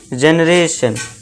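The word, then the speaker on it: generation: फिर next example है जनरेशन।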